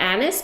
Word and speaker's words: anise: in America where they call it a niece because there's um like maybe down in Louisiana there's a French Connection down there and it is a French words so it can it can the pronunciation can kind of change so I'm going to today just call it anise because that's it makes sense because that's what I call my grandma's cookies smells so good it